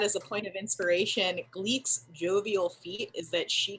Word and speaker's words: Gleik: Okay, so my rogue is named Gleek Laris. Gleek is spelled Gleik, and Laris is spelled Larus.